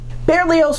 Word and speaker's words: Berlioz: or o in French this demonstrated that the sound of the Z was sometimes dropped I will continue with the well-known pronunciation with the final Z for this video bearlios was born on December